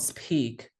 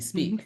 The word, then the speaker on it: speak: say no one says we don't speak we speak right because the S sound blocks the aspiration doesn't matter if you